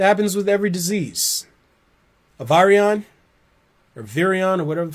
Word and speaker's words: virion: A virion, or virion, or whatever the fuck you call it. Virion is how it should be pronounced, but virion is, I guess, how they pronounce it in English.